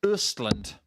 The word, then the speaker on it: Östland: the O in his surname makes it pronounced Östland. Yes, like burst. But without the B.